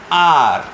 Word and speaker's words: hour: Vowel sound क्या है, जैसा सोचो आर, HOUR, इसको हम लोग आवर आवर बोलते हैं, बहुत जन अलग अलग प्रोनाउंस करते हैं, बट इट्स आर। तो आर में H का प्रोनाउंसिएशन नहीं आता है, O का आता है, तो O वावल है,